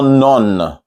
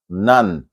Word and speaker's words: none: example is n-o-n-e none it's not none okay not the O is not all none look at the oral English you see that upside down V sound it's a kind of ah none none and another word is